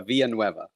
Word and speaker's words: Villanueve: And I wonder how many is going to be out there and try to pronounce that name. Is it Villain? Is it Vanilla wafer. Vanilla No, Waver? no, it's Villanueve.